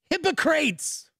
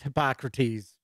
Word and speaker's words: Hippocrates: brewer in q1 is hypocrates and here's the deets on the game and yes i know how to pronounce hippocrates i'm just channeling my inner bill and ted travel back to